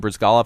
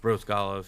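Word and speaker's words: Bryzgalov: In this last game, Brizgalov had the shutout on only facing 17 shots, which is not what you expect from the offensive powerhouse like the Blackhawks.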